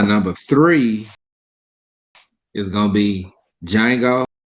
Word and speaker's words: Django: three is gonna be django not dejango because the d is silent um jamie foxx uh